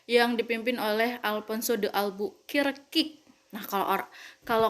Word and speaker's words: Albuquerque: dipimpin oleh alfonso de albuquerque kick nah kalau orang kalau kalian waktu smp atau mts pasti bilang alfonso itu bukan the above all bukir kick ya kan pasti alfonso de albuquerque ya kan hayo ngaku